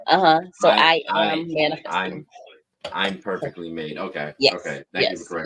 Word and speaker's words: ImperfeKtlymade: say this that the the pronunciation for the foundation it's I'm perfectly made I am uhuh so I am man I'm perfectly made okay okay thank you